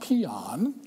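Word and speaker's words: paean: all right now it's pronounced don't chuckle it's pronounced peon all right that's how you pronounce it anybody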